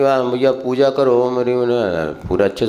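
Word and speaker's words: ह्रीं: जो भी हम पूजन के बाद भैया पूजा करो, ओम ह्रीम, पूरा अच्छे से बोलो, ओम ह्रीम अरहम, जो भी बोलता। अब ह्रीम को कह लो रीम बोलते हैं, ओम रीम नहीं।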